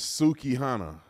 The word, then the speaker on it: Sukihana: I think that's how she said her name. I guess I got the girl name wrong. It's Sukihana.